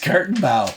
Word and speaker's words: Gartenbau: that how you pronounce it? Give me that. Gartenbau? It's Gartenbau.